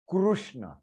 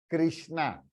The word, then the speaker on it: कृष्ण: परंतु this is crew, कृष्ण, इट इज नॉट कृष्ण। क्योंकि अन्य भाषा में, इन अदर लैंग्वेज, दिस रू इज प्रोनाउंस एज री, दैट इज द रीजन दे से क्री, कृष्णा, but that is wrong, it इज कृष्ण।